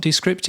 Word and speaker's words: Descript: And it's not Descript; it's Descript. I learned when I was working out how to credit them as a sponsor of the Podnews Daily show this month. It's Descript. So we've been saying it wrong all these years.